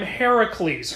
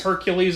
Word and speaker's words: Heracles: I'm Heracles. Hercules is the Roman name.